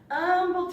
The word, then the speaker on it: Humble: You see, I grew up in the small town of Humble, Texas, spelled with an H but pronounced with an We really did that.